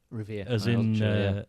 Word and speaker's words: Revere: Revere. As in silversmith in the Revolutionary War.